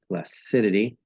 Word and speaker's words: placidity: first syllable first syllable the word placid an adjective is stressed but if you change it into the word placidity okay now the second syllable is stressed stress can also change